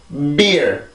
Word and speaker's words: beer: 자, 그러면 지금 강세 음절의 시작이 B 발음이죠. 음절의 시작이 어쨌든 B니까. 자, 해볼게요. beer, beer, beer.